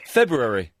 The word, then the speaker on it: February: February.